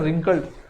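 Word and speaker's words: wrinkled: ये रिंकल्ड है ना, डब्ल्यू से स्टार्ट होता है बट हम लोग आर से प्रोनाउंस करते हैं रिंकल्ड, है ना।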